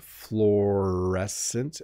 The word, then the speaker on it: fluorescent: but it's fluorescent again you really just make one vowel sound florescent at the beginning it's two letters uo but it's just fluorescent the same as you